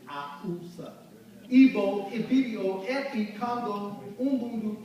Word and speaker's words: Hausa: The Twi, the Fante, the Ga, the Iwe, Fon, Yoruba, Beni, Hausa, Akusa, They don't pronounce the H. It's Ausa.